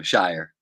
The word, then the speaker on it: Shiver: our special guest shiver am I saying your name right this time yeah it rhymes with fire so Shire okay it doesn't well